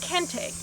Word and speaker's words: Kenté: school in Amelia's Berg while the accent over the last e has long since disappeared many local people still pronounce the name as Ken take is this name merely